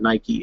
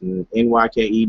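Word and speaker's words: Nyke: it's NY ke alright pronounce it right to by the way it's not nike is NY ke bike short for night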